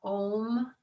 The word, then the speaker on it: Om: And the syllables are Om, Ah, and Hong.